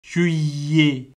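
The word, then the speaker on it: juillet: அப்ப இது வந்து பாருங்க, ஈக்கு பிறகு ரெண்டு எல் வருகுது, என்ன ரெண்டு எல் வரையக்க நீங்கள் வந்து என்று சொல்லி உச்சரிக்க வேண்டும். அந்த எல்லுன்ற சத்தம் கேட்குதோ பாருங்க, கேட்கல என்ன, அப்ப யுஇஏ என்று சொல்லி உச்சரிக்கணும். கடைசியில் ஏத்தே வரபடியால் அதுவும் ஏ என்று உச்சரிப்போம். அப்ப ஷுஇஏ என்று உச்சரிப்போம்.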